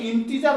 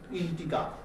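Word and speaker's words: integer: করা হয় j দিয়েও প্রকাশ করা হয় এখানে ইন্টিজার বানান হবে i n t e g e r অনেকে g কে গয়ের মতো উচ্চারণ করে তাহলে হয়ে যাবে ইন্টিগার হচ্ছে কিন্তু g এর মতো উচ্চারণ হয় ইন্টিজার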